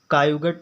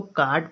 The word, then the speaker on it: caught: Example है CAUGHT, कायुगट नहीं पढ़ेंगे इसको, बहुत लोग क्या पढ़ते हैं कायुगट पढ़ लेंगे, इसको डायुगटर पढ़ लेंगे, डायुगटर। अब ये क्या है, गलत है। जब उसको उच्चारण प्रोनाउंसिएशन इंग्लिश में उच्चारण को कहते हैं, उसको अच्छे से प्रोनाउंसिएशन नहीं आ रहा है तब वो नहीं पढ़ पा रहा है। अब इसको कार्ड पढ़ेंगे, CAUGHT को कार्ड पढ़ते हैं। DAUGHTR को डाटर पढ़ते हैं।